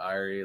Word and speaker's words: Irie: iri irene four times there's a lot of irie there that's how you pronounce it irie right yeah the iron